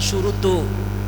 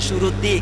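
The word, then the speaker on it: شروط: Makanya bacanya syurutu, tidak boleh syuruti kiai ya.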